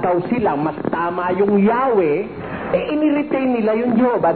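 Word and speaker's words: Yahweh: 1950 edition ang sabi while inclining to view the pronunciation Yahwe as the more correct way we the Jehov have retained the form Jehovah because of people's familiarity with it since the 14th century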